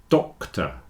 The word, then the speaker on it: doctor: your doctor is not your daughter doctor daughter doctor you see doctor has a c in it